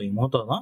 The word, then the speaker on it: 妹: சோ தனியாக வரும்பொழுது இமோத்தோ அப்படின்னே உச்சரிக்கப்படுது.